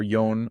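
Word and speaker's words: 四: lines song number four the common pronunciations are yon or she but yon is more common in modern Japanese yo and number five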